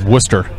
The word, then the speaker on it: Worcester: is owd o r is o r is Worcester so I know all the areas around it's pronounced War it's spelled Worchester but it's definitely